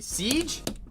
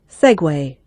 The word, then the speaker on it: segue: Siege. Is that how you say it? Hold on. To make a transition directly from one section or theme to another. Segue. That's how you spell that? That's how you spell segue.